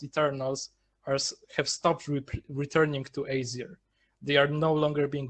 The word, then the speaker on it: Aesir: Aesir, right? I'm pronouncing that right.